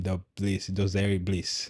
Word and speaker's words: Dosari: Dosari.